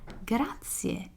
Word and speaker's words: grazie: something even a flyer you would tell me grazie and i would answer i know it may